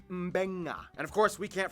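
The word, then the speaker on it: Beqa: alphabet, C makes the th sound, D makes the nd sound, B makes the mb sound. Both Q and ing make the ng sound. Therefore, the town of Nadi is actually pronounced Nandi. And this word is pronounced Mbenga.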